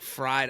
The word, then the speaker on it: Freid: I always do Freid like spelled like fried.